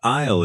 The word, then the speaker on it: aisle: The word aisle is tricky because the S is silent.